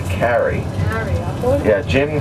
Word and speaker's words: Carrey: presidential candidate, John Kerry, K-E-R-R-Y, or K-E-R-R-I. That's Kerry. Most people mispronounce his name and say Kerry, but it's actually Carey.